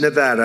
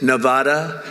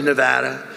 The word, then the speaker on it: Nevada: And don't ever mispronounce the name. You're not allowed to do that, Joe. You mispronounce the name, you got a problem. You ever see somebody when they say it's Nevada? Nevada? No, they're in deep trouble.